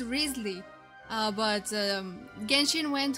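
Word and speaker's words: Wriothesley: decided to do that rly is a is a British name I believe it's of British origin and it's pronounced rley uh but um GHIN went hoers went for Risley and oh my God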